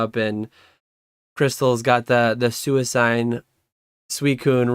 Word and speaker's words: Suicune: set I mean suicune suicide is the correct pronunciation for everyone watching yeah according to me